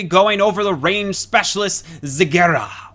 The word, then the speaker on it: Zagara: Today we are going to be going over the range specialist Zagara, or Zagara, I believe is the correct pronunciation in case anyone is wondering out there.